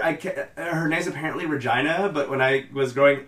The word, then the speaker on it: Regina: I was growing up I always pronounced it Richie no because like that name made more sense to me but according to the death just like he's this apparently it's Regina so I've never heard